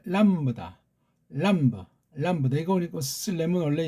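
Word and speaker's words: λάμβδα: 그다음 이것도 람다가 아니고 원래 람브다.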